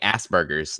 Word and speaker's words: Asperger's: I feel like I'm saying Asperger's, like ass and then burger. That's how it's pronounced.